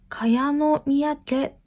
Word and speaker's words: 賀陽宮: という三宅です漢字の読み方が難しくて私読めなくてネットで調べたんですが a これで賀陽宮と読むそうですでこの三宅は